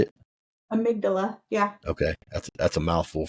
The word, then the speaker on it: amygdala: knows it's super overwhelmed yeah so the amygdala amigula duh how you say it amygdala yeah okay that's a mouthful for me especially